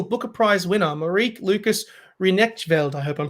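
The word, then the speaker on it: Rijneveld: the 2020 international booker prize winner marie lucas renek velde i hope i'm pronouncing that last name correct ryanville thank you which country is he from uh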